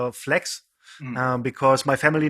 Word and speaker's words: FLKS: It's called Flex. Mm. Because my family name is. That's how they pronounce it in Germany.